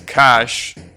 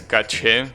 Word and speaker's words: cache: know anyways there is a word in english cash that you use to refer to money right but there is another word in english that is cash and it refers to the memory that a